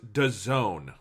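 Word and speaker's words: DAZN: a international sports service technically pronounced da zone okay i i was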